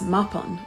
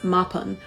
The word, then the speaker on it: Mabon: Around the 1960s or 70s, neo-pagans started to refer to the fall equinox as Mabon, or probably more commonly as Mabon, which is a mispronunciation.